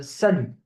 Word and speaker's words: salut: So you have this, bonne nuit, and then salut. Salut. So you see here the T at the end is silent.